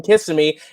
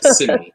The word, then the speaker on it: Kissimmee: It does not snow in Kissimmee, and it does not snow in Anaheim. No, definitely it does not. You put the emphasis on the wrong syllable. It's just Kissimmee, not Kissimmee.